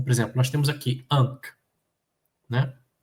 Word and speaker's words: ankh: Então, por exemplo, nós temos aqui Ankh, né? A cruz sozinha vale pelas 3 consoantes. An, Ain, N e R, K, né? Ankh.